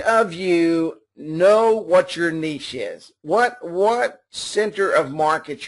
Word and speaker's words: niche: Okay, some people call it the niche. It's actually a French term, and I'm not French, but I think it's niche.